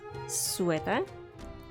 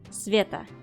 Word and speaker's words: Sveta: character an NPC named sweater this is not quite right she's not sweating her name is supposed to be pronounced sveta and her full name